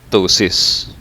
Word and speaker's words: ptosis: his levator papillary superioris in latin ptosis silent p what about this case